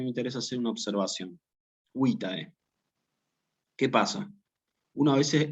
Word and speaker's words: vitae: Cuidado con la pronunciación aquí y con la acentuación, porque nunca es vitae. Nunca es vitae, porque en latín no hay acento agudo. Esto también es importante grabárselo. Si yo tengo palabras bisílabas, por ejemplo, como fecit o como vitae, lo que yo tengo que hacer aquí es decir, acentuar en la penúltima sílaba, como si dijera fecit o como si dijera vitae.